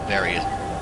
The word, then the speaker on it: Varia: very that various suit i don't know why people pronounce it barrier the games themselves pronounce it barrier but i still don't think that's correct because it's a mistranslation of barrier from the japan from the japanese version it just used to be called barrier but now it's called uh the various search but i'm going to pronounce it very soon if anybody wants